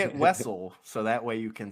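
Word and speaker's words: Wesell: Wessel okay okay thank you you say it Wessel so that way you can say westl Mania baby WLAN WL Mania love that's fantastic so some people think it's pronounced Zam wazelle they are wrong they are wrong they there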